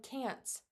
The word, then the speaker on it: can't: Let me share really quick the pronunciation, the difference. It's so close, okay? Can, can't. Do you hear the difference? Can, can't. Try it with me. Can, can't. That T at the very end is so soft, but it's there and it means cannot.